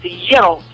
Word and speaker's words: gyro: They said to me the correct pronunciation is gyro.